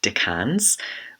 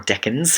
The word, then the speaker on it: decans: 1st 2021 foxy's question was on degrees and decans or deckins however you want to pronounce it in astrology so i'm going to